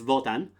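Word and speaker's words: Wotan: old Norse but uh in German it's votan ruler of the Gods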